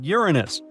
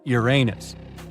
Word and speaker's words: Uranus: Actually, astronomers say we should be pronouncing it like Uranus, not Uranus.